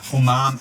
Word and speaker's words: umami: So the wakame seaweed has that lovely briny flavour, great texture, Umami.